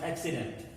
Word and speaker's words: accident: or s sedan no we pronounce the two c's in two different ways it becomes accident then you see this